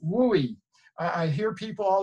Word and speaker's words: WUE: big reveal wooy answer C yay and it's pronounced wooy I I hear people all the time what's that woo deal or the Western thing wooy if you say wooie we'll be right there for you and parents